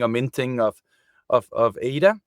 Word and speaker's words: ADA: We don't control the burning or minting of of of ADA. It's is pronounced ADA because it comes from Ada Love Lace which basically was the world's first computer programmer.